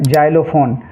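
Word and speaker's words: xylophone: है एक्स से और यहां पे है जाइलोफोन जाइलोफोन में एक्स का उच्चारण किससे हुआ है ज से तो एक्स को हम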